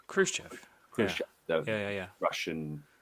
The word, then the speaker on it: Khrushchev: And he like took a back channel directly to I can't pronounce his name. Is it Khrushchev? Khrushchev.